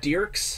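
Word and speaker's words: Dierks: It's pronounced Dirks.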